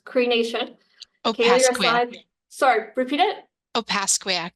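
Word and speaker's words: Opaskwayak: member of AAS Kakak sorry I'm really bad pronunciations creation sorry repeat it op pasak op pasak that's actually much easier than I would that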